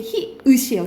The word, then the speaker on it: 히읗: 우리가 학생들이 히응으로 발음하는 경우 많거든요. 근데 히읗이에요. 히읗.